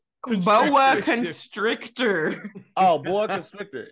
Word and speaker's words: boa constrictor: Bear constructors. Construction snakes. Constructors. They finding asbestos in the ceiling. Wait. How do you say it correctly? Boa constrictor.